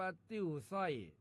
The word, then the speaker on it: ติ่วซ้อย: ว่า ติ้ว ส้อย ครับ ติ้ว ส้อย เขียน ต่อ เต่า สระอิ แม่ เอก ว แหวน ซอ โซ่ แม่ โท อ่อ อ่าง ย่อ ยักษ รวม กัน แล้ว อ่าน ว่า ติ้ว สอย ครับ ติ้ว สอย เป็น